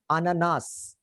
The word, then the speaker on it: ananas: इसमें note करो, इसमें the last का s is not silent. Usually last का s silent होता है, but इस case में last का s silent नहीं है. So you will pronounce it till s. Ananas.